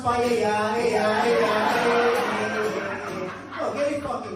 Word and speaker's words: paella: They want pizza de cepayela, they want pizza de cepayela, ella, it's pronounced paella, Oh, get it fucking right, ladies and gentlemen.